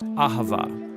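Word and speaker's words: אהבה: It's pronounced ahava.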